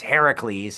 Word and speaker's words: Heracles: is called Hercules, but the Greek pronunciation of the hero's name is Heracles.